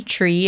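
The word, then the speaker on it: tri: 3 is tree again, tree.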